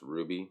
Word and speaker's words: RWBY: Alright, so I want to do a review on Justice League X RWBY, pronounced Ruby, so it's going to be Ruby from now on.